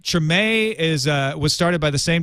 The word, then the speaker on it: Treme: they're exploding talking about Treem, which is, I guess, created by the same people who did The Wire. Do you know anything about Treem? I believe it is pronounced Treme.